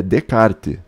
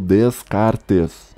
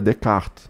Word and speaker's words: Descartes: menos né então assim é de Carter não é tipo Deus carter's inclusive o francês mais correto seria até o e no final ser meio mudo seria de carta né meio abrasileirado beleza né de Carter agora o cara lê